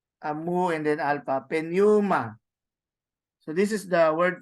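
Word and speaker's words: πνεῦμα: so we will be Pneuma. pronouncing P. Yes, Or silent but, P. but of course it is like a small P, no? At least you get to hear it.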